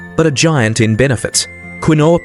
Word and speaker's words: quinoa: Quinoa, pronounced quinoa, is a unique pseudo-cereal.